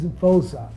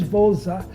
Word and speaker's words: Voza: And South Africans, when they pronounce V, it's like W. So they thought that I was from South Africa because I'm with a South African guy. My name is Voza. That's how they pronounce it, like Voza.